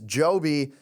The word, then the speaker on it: Joby: My stock of the week is Joby, and not just because it rhymes with Toby.